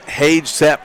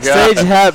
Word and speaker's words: Sage Hep: My man Sage I called him Hage Sepp a minute ago. I realized I said it wrong. Sage Hep, nice stick.